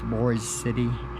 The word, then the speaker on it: Boise City: well, we stayed in, it's called Boise, it's like Boise City, but it's, yeah, it's Boise City is how they pronounce it.